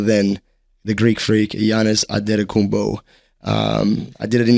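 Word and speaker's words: Antetokounmpo: did it in his that's actually how you pronounce his name he's on his birth ad kumbo cuz in in Greek they don't have um and sorry they don't have D so they use NT and then they don't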